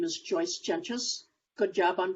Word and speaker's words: Jentges: um as katie said my name is joyce jenchus good job on pronunciation with the name thank you um i